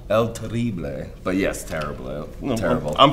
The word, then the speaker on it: El Terrible: Terrible. I'm phonetically spelling. Gotta throw a little stank on it. Yeah, exactly. You gotta roll those R's.